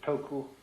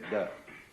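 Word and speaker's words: 德: meaning of this word, de. The Japanese pronounce it toku, the Cantonese dak, and the northern Mandarins approximately de.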